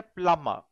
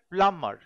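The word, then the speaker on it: plumber: কতটা প্লামার? কতটায় প্লামার। এখানে বি উচ্চারণ হবে না।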